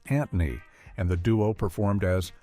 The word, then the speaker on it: Anthony: Squiggy was initially called Anthony, pronounced Antony, and the duo performed as Lenny and Antony in their college sketches.